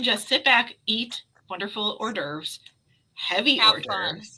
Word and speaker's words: hors d'oeuvres: So just so you know, you can just sit back, eat wonderful hors d'oeuvres, heavy Have hors fun. d'oeuvres. Yep. Yes. Yes, heavy hors d'oeuvres.